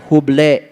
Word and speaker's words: Hubble: Ditulisnya huble. H U B L E. Huble. Dibacanya hub.